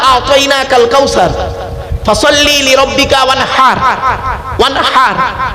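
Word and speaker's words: وَانْحَرْ: ওয়ানহার এই গলার ভেতর থেকে হেটা উচ্চারণ করবেন, ফাসাল্লি লিরাব্বিকা ওয়ানহার।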